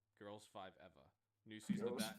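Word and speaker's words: Girls5eva: So for TV, we got Girls 5 Eva. That's how it's said. It's Girls, the number 5, and EVA. Girls 5 Eva.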